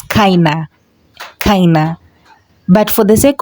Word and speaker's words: keine: Although when you pronounce it, you're supposed to pronounce it as kina.